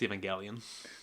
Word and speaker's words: Evangelion: called neon genesis evangelion it's evangelion oh i see i see i'm doing the robin williams pronunciation evangelion neon genesis evangelion um you've seen 104.